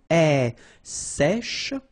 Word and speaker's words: sèche: Un gel, un sèche. So this one is a bit tricky. So remember, we've got this E accent grave here. So it's really open. Sèche, okay, sèche, and then cheveux.